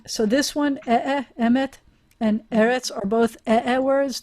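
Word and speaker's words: אֱמֶת: So whenever you have a segolate, the first syllable is always the accented syllable.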